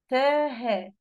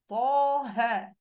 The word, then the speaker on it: طه: التفخيم وتضخيم الحرف حين النطق به كنطق حرف الطاء في قوله طه. أنا ممكن أقول إيه؟ تاه. في فرق صح؟ كل واحد يجي يقفل المايك عادي زي ما هو ويجرب يقول إيه؟ تاه، لكن طه.